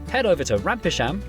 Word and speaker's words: Rampisham: Starting in Biaulio, Bewley, head over to Rampisham, Ransom, then down to Mousehole.